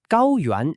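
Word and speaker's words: 高原: Finally, let's look at gao yuan. Gao yuan is pronounced gao yuan and means plateau.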